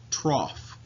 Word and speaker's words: trough: cycle is called the trough phase now I know that looks like TRO but as you can see it's actually pronounced trough so pretend like it's spelled TR o FF even though it's clearly